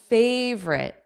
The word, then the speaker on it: favorite: Everyone has a favorite. favorite. Two sounds. So just like chocolate, that middle O is not pronounced.